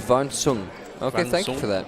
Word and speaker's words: Van Sang: Van Sang is pronounced Van Sung.